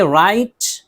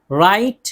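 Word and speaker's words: write: तो ज़्यादातर तो यही है कि शुरू में जो है डब्ल्यू और आर हो तो डब्ल्यू को नहीं पढ़ते हैं। जैसे राइट, राइट लिखना।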